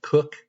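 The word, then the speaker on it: Koch: it's spelled Ko H, I believe they pronounce their name in the family, Cook.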